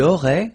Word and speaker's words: aurait: Il aurait, same thing here. Final T is not pronounced.